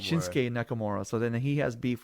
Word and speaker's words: Shinsuke Nakamura: see I'm saying it wrong it's a tongue shinsuke Nakamura shinsuke Nakamura so then he has beef with that guy